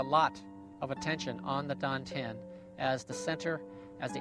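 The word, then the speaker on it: tantien: the chinese call the don ten spelled t-a-n-t-i-e-n but pronounced like a d like these dante a hard d it means the elixir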